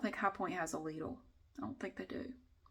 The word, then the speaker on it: Lidl: That is literally how you pronounce it in the USA. I confirmed it with the company. It is Lidl in the USA. I know it's not pronounced that way everywhere, but it is pronounced that way here.